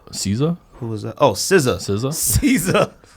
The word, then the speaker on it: SZA: Oh, SZA. SZA. Not Caesar. SZA.